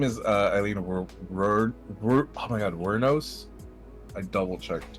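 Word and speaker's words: Wuornos: Her name is Eileen oh my God, Wernos.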